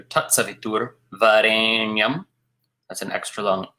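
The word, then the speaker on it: सवितुर्: Sorry, that's a short U, not a long U. Savitur Varēnyam.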